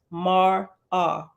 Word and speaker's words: Mara: at the bottom says Mara means mirror and is pronounced mar ah verse 22 behold Mara